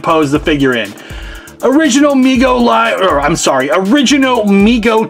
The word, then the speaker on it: Mego: response to overwhelming demand Mego pronounced Mego Corp was started by his father David Abrams in 1954 and named by his younger brother Howard who would say me go to arming Howard later